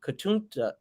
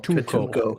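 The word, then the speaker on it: Katuunko: Toydaria and ask King Katunta to oh man, God, I am awful. Katunko. King Katunko. Why am I always your pronunciation man?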